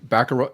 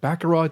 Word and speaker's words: Baccarat: See, I always thought, I always get confused if you had to pronounce the T or something like that. Some words mess Probably in Europe you don't, but here, that's right. Here we do.